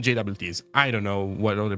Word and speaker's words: JWT: is um this thing for people who maybe uh uh pronounce it differently because he pronounced it jot I'm talking about about this stuff so I call them jts I don't know what